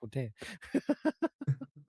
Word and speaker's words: poutine: I mean, at Poutine, too, right? That poutine is next level. I mean, of course you're going to Montreal. It's all poutine. And you have to say it correctly. Putin.